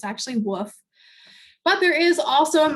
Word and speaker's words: Woof: and mrs woof but it's not spelled wolf it's spelled woof w-u-f and uh so most people did vote for wolf which was what i've said out loud for a very long time until i realized that